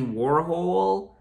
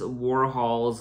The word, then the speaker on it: Warhol: mispronounces Warhol's name, and Bowie repeatedly demonstrates how to say it properly. Warhol, Warhol. I always thought it was Warhol. Andy Warhol. Andy Warhol, Andy Warhol. Except the way David says it, he says it like Warhol.